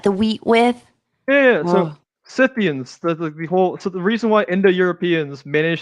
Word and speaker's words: Scythian: I pronounce it Scythian because they're named after literally Scythe.